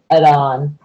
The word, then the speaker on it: adhan: This is Arabic word adhan. The H is silent.